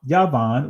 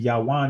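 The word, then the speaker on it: Javan: but look at here look at Javon or yavan or ywan actually ywan is the ancient pronunciation Yan the name of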